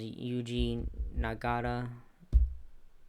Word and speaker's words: Yuji Nagata: Bryan Danielson versus Yuji Nagata.